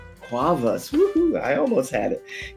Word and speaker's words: Cuevas: I just can't pronounce it. What is it? Hello and welcome. Hi, Quavas. Quavas.